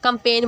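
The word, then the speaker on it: campaign: कंपेन मुहिम, तो इसमें जी साइलेंट है, राइट लिखना।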